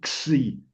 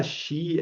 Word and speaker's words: xi: Aquí es la doble xi, C-S-I, xi, xi. Eh, entonces, llamarla shi, es que esto ya como lo, shi, no, es xi, ¿sale?